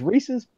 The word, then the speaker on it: Reese's: That's Well, the reason I say Reese's is there's a town not far from me that's named Reese, and it's spelled exactly the same way with no S. So That's right. it's Reese's. yeah.